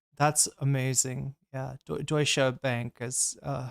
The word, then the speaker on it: Deutsche: I've never heard anyone call it Deutschi Bank. That's amazing. Yeah, Deutscha Bank is uh how it's pronounced.